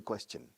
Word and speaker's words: question: Pero question, como pregunta, o question no es question, no. Question. Chin, como chin chin.